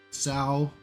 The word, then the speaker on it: Sal: But listen, it rhymes with wow, okay? Sal, wow. Cow.